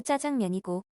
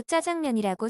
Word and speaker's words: 짜장면: 우리가 보통 많이 먹는 짜장면은 발음도 짜장면이고 중화의 집을 가도 짜장면이라고 써 있습니다. 국민의 대부분 아나운서들을 제외한 모든 국민이 짜장면이라고 발음하고 사용하고 있는데 왜 굳이 표준말은 자장면일까요?